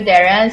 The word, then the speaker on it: Darragh: So it's Darragh, DarraghMckay. The GH in my name is silent, I should say.